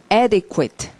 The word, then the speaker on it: adequate: 자, 이거는 발음은요, adequate 이러고, 영어에서 그 Q라는 스펠링은 100% U랑 다닙니다. Q 다음에는 100% U가 나온다고요. 그래서 QI, 발음이 Q가 아니라요, QI 이렇게 Q하고 W로 같이 발음을 하게 되죠. QI라고. 그래서 adequate, 자, 소리 adequate, QI라고 읽어야지. adequate 이러면 그런 말로 안 들려. adequate이라고 읽어야지.